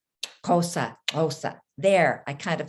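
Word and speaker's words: Xhosa: zulu and cosa cultures so you heard me pronounce cosa with a click as i said the word so the x is said with a k sound along with the click at the side of your cheek i didn't say it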